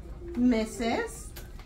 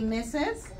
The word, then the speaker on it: Mrs.: Mrs. Say it for me. Say Mrs.